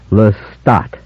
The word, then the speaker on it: Lestat: building only pursuing me lestat i pronounced my name carefully for her lestat primary stress on the second syllable sounding the final t distinctly listen nobody knows about